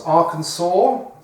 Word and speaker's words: Arkansas: And then below Missouri comes Arkansas, which is spelt Arkansas.